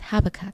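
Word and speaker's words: Habakkuk: habakuk yeah habak habak it's habac it's habac that's how I've always wanted to pronounce it too yeah is that the right way though or is that just the way that we know yes well I don't know yes it's correct we're not we're not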